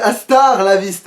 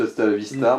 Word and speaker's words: hasta la vista: Ouais, elle a du mal le prononcer. En fait, c'est Astar la viste. Ouais, Ah. enfin, c'est peut-être ça, en fait. Ouais. Je savais que c'était juste hasta la vista, mais bon.